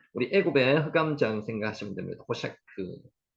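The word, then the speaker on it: חושך: 호셰크, 이 단어 중요한 단어입니다. 호셰크, 흑암입니다. 흑암. 우리 애굽의 흑암장 생각하시면 됩니다. 호셰크, 호셰크, 흑암.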